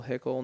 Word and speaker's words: Hickle: we'll hype you up yeah my last name is spelled h-i-c-k-l so hickle no e I'm on Instagram holler at me